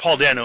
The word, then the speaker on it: Dano: Paul Dano is the way it's pronounced.